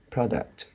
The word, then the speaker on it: product: When it is pronounced as a noun, the stress is at the first syllable, product.